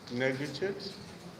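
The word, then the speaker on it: négritude: this morning you want to look at uh negritude in African poetry and we're looking at neges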